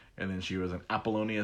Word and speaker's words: Apollonia: like, who is this Apollina? I always say her name wrong. I'm sure my wife will correct me as she walks by. Apollonia. Thank you, wife.